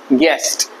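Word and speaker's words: guest: के लिए होता है गेस्ट तो जी ई एस टी पढ़ेंगे गेस्ट ठीक है ना यू साइलेंट है उसके बाद गेस में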